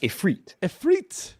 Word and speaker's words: Ifrit: So, if you saying it phonetically, it looks like it says Ifrit.